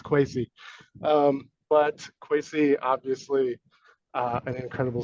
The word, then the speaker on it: Quacy: Quacy, and it is pronounced Quacy. I got it wrong at first myself. so don't feel bad if you don't know how to say his name. It's Quacy.